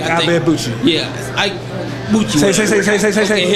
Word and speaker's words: Ibeabuchi: Ike Ibeabuchi.